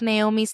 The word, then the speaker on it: Nahomy: Um, so my, I have a bookstagram and a YouTube and they're both Naomi's Library. My name is spelled I'm a little different. It's N A H O M Y, um, Naomi's Library.